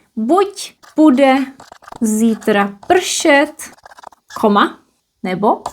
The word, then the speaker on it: buď: So we have two options and we use buď in one part, buď, pronounced as t, buď, and the other one is nebo.